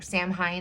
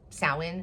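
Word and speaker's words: Samhain: I know that like in the olden days during like sin or Sam Hyen it's sin is how it's pronounced.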